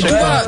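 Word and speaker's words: Tuğba: En fait c'est Touba. Touba s'écrit Tougba.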